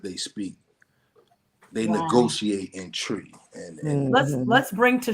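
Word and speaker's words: Twi: uh it's it's pronounced it's spelled t-w-i but it's pronounced tree so that's the the language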